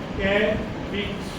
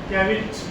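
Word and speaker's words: caveat: बड़ी ई की तो साथ में क्या लगा ये क्या बन गया कैविट क्या हो गया कैविट क्या वर्ड है ये प्रोनाउंस कीजिए इसको कैविट what it इज कैविट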